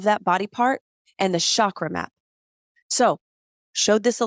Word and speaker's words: chakra: psychedelic spaces so the word Shakra is actually pronounced chakra that's to slide chakra nice I've got like